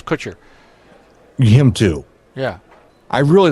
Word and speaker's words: Kutcher: far as are you talking about the Ashton Crusher full paw no what what happened with Ashton it's Kutcher him too yeah I really don't care I